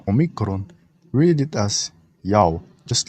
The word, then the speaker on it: Ya'oh: ever existed he didn't samaritans pronounce it as yahweh and they pronounce it wrong but the yahushua all pronounce it as yao they said it correctly because it's their god